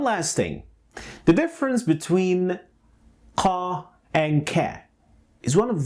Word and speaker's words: ق: Now I want you to observe the position of my tongue pronouncing the qa and ka.